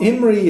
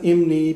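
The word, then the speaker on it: imní: So they pronounce it like it's an R.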